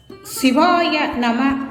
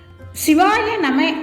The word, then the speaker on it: சிவாய நம: சிவாய நம என்னும் மந்திரத்தின் தத்துவம் சிவாய நம என்ற மந்திரம் எழுத்து வழக்கில் சிவய நம என குறிலாக உச்சரிக்கப்படுகிறது சி வா ய ந